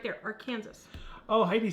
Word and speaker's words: Arkansas: Wrong pronunciation. Apparently that's... You know, that's like the whole rest of the world says Arkansas, but it's Arkansas.